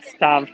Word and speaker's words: Stave: I always called it the Stave Church. Oh, okay. Well, I believe the pronunciation, if you're Norwegian, is Stav.